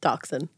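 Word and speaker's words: dachshund: tan mini how do you say this one doxen there you go named Toby who was a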